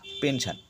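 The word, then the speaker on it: pension: talus aggression অর্থাৎ আক্রমণ পেনশন দেখো পি এন এস আই ও এন এস টা কোথায় আছে এস টা আছে তোমার হচ্ছে আই ও এন এস এর পরে হচ্ছে আই ও এন তাই উচ্চারণ তালুস পেনশন এরপর হচ্ছে টি এর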